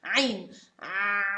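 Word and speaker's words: عين: So what I actually do in order to pronounce the ain, try to do like this. Try to say ah and continue, just letter a, ah, and then reduce the airflow with your hand.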